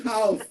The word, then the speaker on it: half: No, I remember Christian and half. Okay. I don't know if they are still alive. Okay. Sorry, but the correct is half. Half. Yes, exactly. Half. You don't pronounce the L.